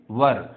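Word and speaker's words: were: के लिए हम लगाएंगे वर। इसका प्रोनाउंसिएशन तलफ़ुज़ समझ लो ये वर होता है, वर, ठीक है। वेयर, वेयर अजीबोगरीब जो हम पढ़ते हैं वो नहीं है, इसका प्रोनाउंसिएशन, इसका तलफ़ुज़ क्या है, वर।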